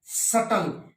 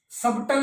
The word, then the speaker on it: subtle: फिर आ जाओ silent B, किस किस में, सटल, सबटल नहीं होता ये, सटल, SUBTLE।